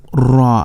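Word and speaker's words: ر: Okay, ra, this is ra, has a repetition, not ra like in English. No, we will say ra with repetition.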